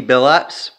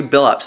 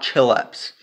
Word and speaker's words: Billups: said Chauncey or Chauncey Billups so it was actually Bill ups not chill ups it's Chauncey Billups is how you say his name I mean put in